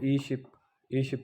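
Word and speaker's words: 이십: तो आगे 20 को ई शिप पढ़ेंगे।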